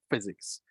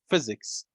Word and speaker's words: physics: of kuwait okay we have also this word physics when you see p and h p and h in the word just pronounce them physics physics and of course the father of the